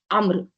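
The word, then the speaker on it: عمرو: वाव देखेंगे ना तो इसको आपने प्रोनाउंसिएशन करना है अम्र ओके उम्रू नहीं वो उम्रू नहीं होता है राइट तो अम्र बिन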